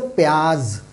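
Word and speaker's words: प्याज़: So please pay attention to this because a very minute difference is there.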